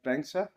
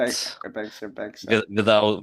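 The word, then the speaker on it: Banxa: So that is It's almost like Bankster, right? But Banksa. without T, Banksa.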